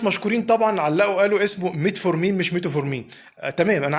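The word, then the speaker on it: metformin: ومتعود لا اقول له ميتو فور مين فتلاقيني وانا بتكلم بقول له ميتو فورمين اتعودت لكن انا عارف ان الصح ميت فور مين فمعلش انا هادفي توصيل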